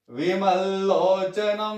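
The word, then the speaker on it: विमललोचनम्: ध्यायेदाजानुबाहुं धृतशरधनुषं बद्ध पद्मासनस्थं पीतं वासोवसानं नवकमलदल स्पर्धिनेत्रं प्रसन्नं वामांकारूढ़ सीतामुख कमल विमल्लोचनम, यहां दबाव डालेंगे, विमल्लोचनम नीरदाभम नानालंकार दीप्तम दधत मुरुजटामंडलम रामचंद्रम।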